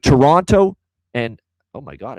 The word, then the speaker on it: Toronto: All right, Toronto and oh my God, I said Toronto like an American. My bad, I've never done that. Jeez, Toronto taking on that's better.